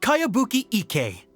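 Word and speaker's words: Kayabuki Ikkei: new one i've never heard of it by cowabunga icky mia this is a really strange name who's this cowabunga it's pronounced kayabuki ek that would be me outlander brigade is a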